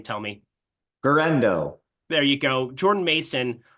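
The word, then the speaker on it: Guerendo: We saw Isaac, I don't know how to pronounce his last name. Tell me. Guerrero.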